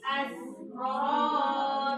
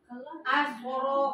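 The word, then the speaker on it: أسرى: Tadi ada sebagian membacanya tersebut ke so, karena dia mengejar ro berat. Asro katanya, asro.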